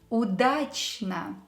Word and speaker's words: удачно: Удачно. The same rule with O letter. Pronounce it as A when it's not stressed.